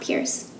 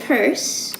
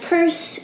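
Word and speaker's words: Peirce: sanders purse so apparently that's how you actually pronounce his name is purse not Pierce and both of these guys were operating back in the eighteen hundreds and early 1900s so sews and purse explore pretty similar ideas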